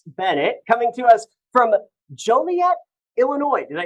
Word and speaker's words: Joliet: Zoom is Alex Bennett coming to us from Joliet Illinois did I say that right Julia you said it right Joliet that's correct Alex thank you for joining us here on the news at 8 30.